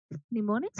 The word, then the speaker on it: mnemonics: M is silent here. You call it as mnemonics, which is nothing but combination of different.